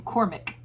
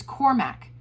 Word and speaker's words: Cormac: him by insisting on mispronouncing his name and calling him cormic a minor yet infuriating pinprick but the kind of kind of insult that was brother andrew's specialty cormac he would say my name is cormac but it didn't do